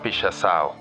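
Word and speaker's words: pixação: Un caso muy interesante es el de una versión del graffiti brasileño que se llama Pichação. Se trata de escribir sobre los edificios textos del mismo tamaño. Búsquenlo en Google, se escribe Pixacao.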